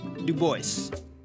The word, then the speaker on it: Du Bois: oh and for the record his name is pronounced Du Bois all right just thought I'd clear that up